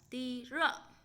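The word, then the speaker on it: 低热: Sốt nhẹ chúng ta sẽ đọc là ti rợ.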